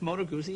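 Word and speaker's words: Moto Guzzi: should learn some American slang who know a moto gozi did I pronounce that correctly that's motor gooi is yeah what what kind of a bike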